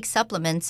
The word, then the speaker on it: supplement: Lisa 的梦想是成为一名营养师，并且帮助外婆早日恢复健康。接下来我们看到名词 supplement 指营养补充品、增补物。像是 Pregnant women often take supplements on their doctor's advice.